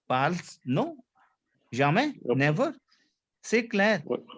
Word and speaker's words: parle: Why didn't you pronounce the E? We don't pronounce the E. That by default it is we are pronouncing parle.